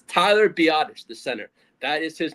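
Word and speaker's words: Biadasz: I was have I was saying badass so much on last episode. It's Tyler Biottish. the center. That is his name. It's Tyler Biottish. Not badass.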